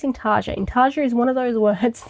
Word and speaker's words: intarsia: Intarsia is one of those words that I always think I pronounce it wrong.